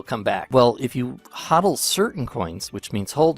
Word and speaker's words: hodl: and it's felt weird but that's how you pronounce it huddle and that means like hold on to the